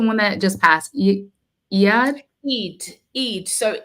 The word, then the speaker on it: Eid: said it was this okay e what was Eid how do you say the one that just passed EAD Eid Eid so E when I was in the